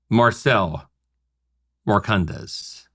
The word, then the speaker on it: Marcel Marcondes: the global chief marketing officer of AB InBev, Marcel Marcondes. Great pronunciation, Rob.